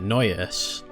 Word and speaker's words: Noyes: That's how you say it, Noyes.